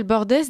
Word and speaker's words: Bordes: nos deux invités Pascal Bordes député rassemblement national de la 3e circonscription du gare bonjour madame bonjour alors mon nom se prononce bord bord excusez-moi je prononce